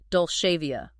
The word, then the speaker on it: Dolcevia: It's Dolcevia. Right. So think of the famous Italian phrase dolce vita, representing the sweet life, but simply drop the T.